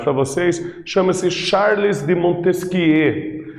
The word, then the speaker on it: Montesquieu: Esse carinha aqui que eu trago na imagem para vocês chama-se Charles de Montesquieu. Essa é a pronúncia, ele era francês, então é assim que se pronuncia o nome dele. E ele viveu entre 1753